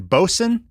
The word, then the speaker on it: Boatswain: And then eventually I was spell that for me. What are you saying? Bosun? Boatswain's mate. Boatswains. So, Got it. Okay. SWAIN. Yeah.